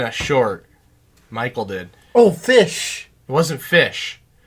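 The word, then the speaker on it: ghoti: t i g h o t i it's pronounced fish you have the GH and rough rough wait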